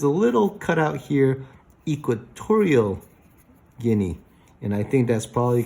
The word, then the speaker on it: Guinea: And then there is Guinea, like guinea pig, Guinea-Bissau.